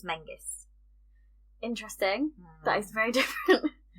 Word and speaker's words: Menzies: yeah unstable um so it's not Menzies okay it's Mingus interesting that is very